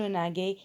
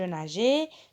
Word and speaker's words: nageais: Et donc G devant A, ça se prononce ga. Donc je ne peux pas dire je naguais. Qu'est-ce que je vais faire pour la prononcer nager? Et donc je vais ajouter E devant G.